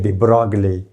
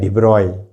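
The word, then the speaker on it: de Broglie: Renee Descartes, ये French वगैरह में ये साइलेंट का ये मसला होता है, हम बोलते हैं डिब्रॉगले। हकीकत में क्या है? डिब्रॉय, वहाँ पे डिब्रॉगले इक्वेशन।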